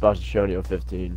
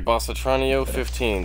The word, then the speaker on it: Bossatronio 15: So you're saying it's pronounced Bossatronio 15. Okay, Bossatronio 15.